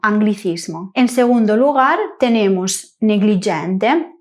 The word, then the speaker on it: anglicismo: Un aspecto interesante es que a veces encontramos escrito g + l + i, pero no lo pronunciamos y sino gli. Estas palabras son excepciones. Tenemos en primer lugar las palabras que tienen una nupo GL I, como por ejemplo anglichismo, anglicismo.